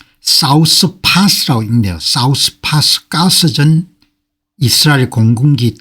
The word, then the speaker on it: 사우스파스: 사우스파스라고 읽네요.